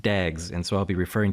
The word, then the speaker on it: DAGs: directed acyclic graphs dags so this is pronounced dags and so I'll be